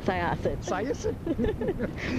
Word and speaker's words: Syosset: Syosset. Or as Matt calls it, Sosit.